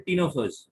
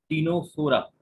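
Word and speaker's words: Ctenophora: और दूसरे होते हैं टीनोफर्स, CTE, सी साइलेंट है, टीनोफोरा.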